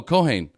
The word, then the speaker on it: Keohane: pronounce your last name coane oh Caine yeah that's ironic why because it rhymes with cocaine oh yeah that's the